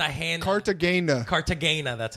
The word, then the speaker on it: Cartagena: mad at the hand hard to gain the Cartagena that's how they say it's all touristy but